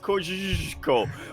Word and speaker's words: Kosciuszko: It's pronounced Kosciuszko.